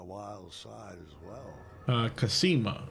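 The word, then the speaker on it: Cassima: side as well uh casima according to the pronunciation in King's Quest 6 and five I believe as well all right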